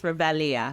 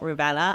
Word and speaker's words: Revelia: so you guys know phonetically it's revelia not rubella and if you do